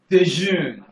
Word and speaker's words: déjeunent: Jean et Judith déjeunent. Do not forget, I said the ENT in a verb is always silent.